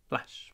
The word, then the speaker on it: flash: go ahead it's flashing flash flash flash really short a in this word FL FL pronounce the FL in the at position that means smiling mouth open FL FL flash flash